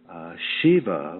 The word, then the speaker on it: Shiv: of you may know Shiva which is the the Sanskrit term for sacred mail is sometimes spelled SIV and pronounced Shiv and and I got